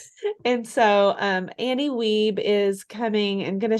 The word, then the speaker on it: Wiebe: I had to ask her how to pronounce her name because I've been saying it wrong in my head this whole time. And so Annie Weeb is coming and going